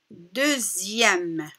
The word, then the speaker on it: deuxième: exercice c'est un devoir x ziehm deuxième donc fait attention à la prononciation andy 2e donc je répète un